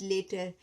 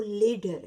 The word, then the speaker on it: later: लेटर, I will eat लेटर, लेकिन हिन जो जेको असुलु जेको प्रोनाउंस आहे, जेको असुलु हिन जी आवाज़ आहे इंग्लिश में, उहो लेडर आहे, लेटर कोन्हे।